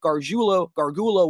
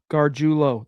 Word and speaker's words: Gargiulo: Gargiulo. That's how you say his name. You had it right the first time, bro.